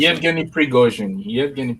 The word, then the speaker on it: Yevgeny Prigozhin: Was the correct pronunciation? Yevgeny Prigozhin.